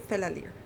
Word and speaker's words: Fela: little tip for you it's fella like a buddy and Le Like lyrics there you got fella I think that was